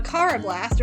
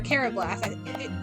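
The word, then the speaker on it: Karrablast: We have a Carablast, or a Carablast. Technically, English pronunciation, it would be Carablast. I know in the anime it's Carablast, but look, there's 2 R's. There's 2 R's, which makes it Carablast.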